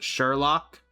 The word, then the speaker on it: Sherlock: It's pronounced Sherlock.